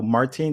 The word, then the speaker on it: Martine: So Martine, did I say it right? You did. It's actually Excellent. but you got it right. Like, how would you say it in French, though? Martine. Martine.